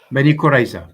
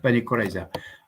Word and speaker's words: Bani Qurayza: Did archaeologists discover the mass grave containing the Jews from, you're going to have to pronounce that, I can't. Bani Qurayza, Bani Qurayza.